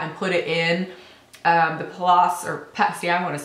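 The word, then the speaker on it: Palais: on the palace bebe I asked her how to say it because everybody seemed to say the loss she called it palace so that's what I'm going with I would like it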